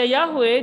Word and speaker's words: Yahweh: aja dulu kalau membaca Yahweh dia cuman kayak gini yhwh cuman gitu doang dia ya kalau sekarang dibaca Yahweh kalau dulu enggak yhwh Tapi bacanya memang yahwe Tapi tulisan yhwh sekarang